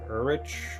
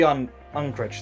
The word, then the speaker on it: Unkrich: Apparently, the film's director, Lee Ulrich, or I don't know how to pronounce his last name. Lee Unkrich, thank you.